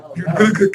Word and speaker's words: butyric: Butyric acid.